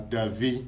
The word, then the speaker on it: Davi: it in Hebrew as Davi. Mm-hmm. Davi. That's it. Okay. In our language, Ewe language, which is Ewe means Hebrew, we say Davi.